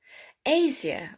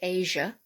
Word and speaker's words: Asia: anything i have amnesia asia or we say asia asia now okay some people say asia but i think it's asia that would fall under